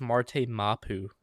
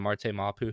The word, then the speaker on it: Marte Mapu: Um that's the Well, we traded from uh I think it's Marte Mapu is the way you pronounce it, but we traded for him out of the Patriots.